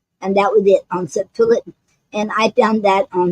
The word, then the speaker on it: Septolet: Okay, now today's poetic form is called septillet, and it's spelled Septolet.